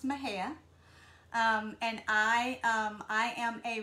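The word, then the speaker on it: Mexia: small town um called it's actually spelled m-e-x-i-a but it's pronounced my hair and um i am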